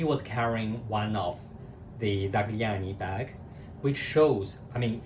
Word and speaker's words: Zagliani: I will show you how it is pronounced. So how it's written. It's written Zagliani, Zagliani.